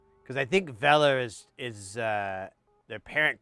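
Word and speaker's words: Weller: of thing, you know, like because I think Veler is is uh their parent company is German. At least in their ads, they pronounce it Veler with a V on it.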